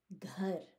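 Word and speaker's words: घर: It's ghar because there's an H after that G that you have to pronounce.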